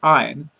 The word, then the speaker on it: iron: Please remember to say iron so that it'll rhyme with lion.